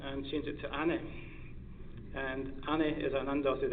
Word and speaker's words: Ani: the correct spelling of Ani, which is a dotted I. There are 2 different I's in Turkey, and a dotted I and an undotted I in the Turkish alphabet, and they're pronounced slightly differently.